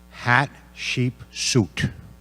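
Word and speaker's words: Hatshepsut: out, first grade curriculum, how to pronounce this person's name. And I think we settled on hat, sheep, suit.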